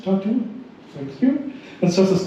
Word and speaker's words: Tartu: Legal Clinic of the University of Tartu, well pronounced, Tartu, thank you, and serves as co-organizer of the Estonian Legal Hackers Meetups.